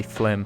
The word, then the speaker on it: Flim: that I always mispronounce it looks like it should be filmed just in my defense here I was gonna say film but it's actually flim so I'm just gonna